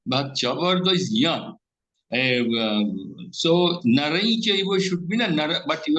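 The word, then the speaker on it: नरं चैव: But your pronunciation is, it sounds like Naran Chaiva, not Narain Chaiva. Ya is not sounding.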